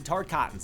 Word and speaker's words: Tarkatan: Joining her in side-swapping is creepy dead guy's Ermac, leaving Mileena with only Tarkatans on her side. Do you And guys yes, prefer it's pronounced Reptile Tarkatan.